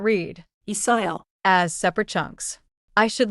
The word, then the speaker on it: 있어요: I see, 있어요. but I keep hearing something like, 있어요. am I hearing it wrong? 좋은 질문이에요. 있어요 is spelled 있어요. But in natural speech, it links and sounds like 있어요.